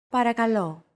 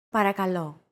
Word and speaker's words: Παρακαλώ: Παρακαλώ. Παρακαλώ. Chances are your pronunciation was pretty spot on. The P, R, K, and L sounds are practically identical to English.